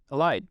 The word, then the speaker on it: Ahad: Ahad.